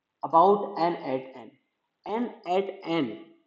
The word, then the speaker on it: n8n: About an eight N. N eight N pronounce.